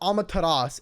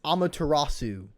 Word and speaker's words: Amaterasu: wrong they are not it's not amataras it's amaterasu okay let me i'll turn